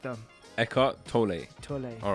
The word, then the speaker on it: Eckhart Tolle: How are we pronouncing the name today? Eckhart Tolle. Tolle. Are you sure? Well, that's how I heard them say the name.